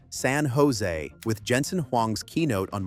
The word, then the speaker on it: San Jose: For pronunciation, San Jose with Jensen Hang's keynote on March 16th.